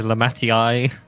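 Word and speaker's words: Lamaty'i: No, I think she's Lamatii.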